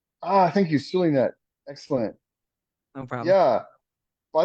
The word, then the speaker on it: Zulynette: Also, just so everybody and their mama knows, it's pronounced Sulinet like an S. The Z is only there to fool you. Thank you, Zulynette.